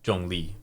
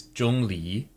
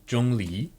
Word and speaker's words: Zhongli: I would have assumed that he'd be Jong Lee which um is not here that's not what's written here so so that's not how you would say his name no this here is jungi so for anyone who wants to pronounce it correctly jungi for time this is